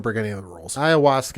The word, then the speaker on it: ayahuasca: Ayahuasca is by the way, that's how you pronounce it. Is ayahuasca.